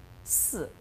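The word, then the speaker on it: 四: Number four, si. Because si, the same pronunciation, just 死 means died.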